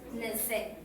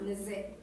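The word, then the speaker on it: nese: The second one is pronounced Neze. So as you could hear, the letter S is pronounced with a Z sound, Neze.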